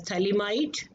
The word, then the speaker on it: phthalimide: Here we call it as phthalimide. P is silent in the pronunciation.